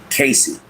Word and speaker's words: Casidhe: I took this moment to finally get my savior's name, Casey, but it's spelled different. It has the old spelling of Casidhe.